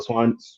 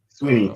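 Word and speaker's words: Swinney: Debo Swanee, I think I say his name right. I'll be messing up people's names. Sweeney.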